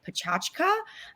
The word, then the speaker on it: PechaKucha: It's a Wright Pechakucha, or some people pronounce it Pachachka event.